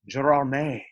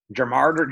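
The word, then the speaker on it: Gérardmer: the sort of a bigger festival it's it's pronounced gerardmay it's in the french alps and americans would be like germart gerard amer but um we actually won the audience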